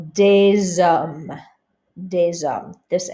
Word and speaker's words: des hommes: You don't hear the S over here or over here, but because an H acts like a vowel in French because it's not pronounced, you say des hommes.